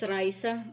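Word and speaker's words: rejse: DK they they pronounce this as Risa R EJ s e that means in English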